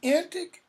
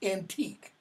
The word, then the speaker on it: antic: I never may believe these antic fables, and that's how it would have been pronounced in Shakespeare's day. It wouldn't be pronounced antique. Antic.